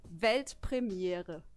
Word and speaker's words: Weltpremiere: It's actually Weltpremiere. Pretty similar, right? I think I could do that. Yeah, do it. Weltpremiere.